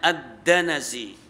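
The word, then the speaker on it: الدنس: jadi atharatu alkulusu minadanasi jadi bacanya addanasi Ya wasaran coba secara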